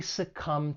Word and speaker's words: succumb: mobile Tower when pronouncing this verb it has two syllables and the stress is on that second syllable succumb and just keep in mind there is a silent B at the end of the verb to succumb and then there's the